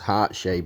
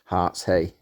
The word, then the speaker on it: Hartshay: So I've been pronouncing it as Hartshay, but the correct pronunciation is probably Hartshay.